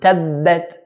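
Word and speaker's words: تبت: So tabbat, not ta, tabbat, but tabbat yada, 4 counts.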